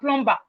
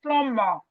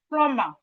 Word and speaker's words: plumber: SOMETIMES MOST OF US WE CALL um plumber plumbumber. No, please. Now we've learned it. Now let's take correction. Let's take that correction. The B in plumber is silent.